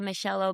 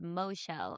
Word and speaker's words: Michelle: it was funny that he said Moshelle Obama. I thought that was going to be the whole clip was that he mispronounced her name in like a a pretty silly way.